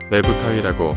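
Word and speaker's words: Neb-tawy: 내부라고 하고 뜻은 주인입니다 그 아래쪽에 작대기는 하나 일대 타라고 발음을 하고 땅이라는 뜻이고 두 개가 있으니까 이집트에 있는 쌍수형 어미를 붙여서 내부 타이라고 발음을 합니다 내부타위라고 하는 칭호 노땅의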